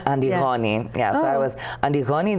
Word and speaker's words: Antigoni: For my mom, I'll always be, mostly Antigoni, which is the Greek pronunciation of Antigoni.